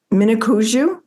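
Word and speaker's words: Mniconjou: Mnicoujou?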